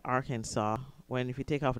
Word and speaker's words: Arkansas: code now I never understand why this is pronounced Arkansas when if you take off the AR it's